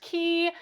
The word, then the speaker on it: Cay: C A Y and C A YS are generally pronounced key and perfect day kind